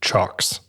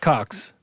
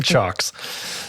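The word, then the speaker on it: CIOKS: the this is a it's spelled c i o k s but it's pronounced chocks okay it's not pronounced Cox no it's also not clocks it's chocks so the the dc7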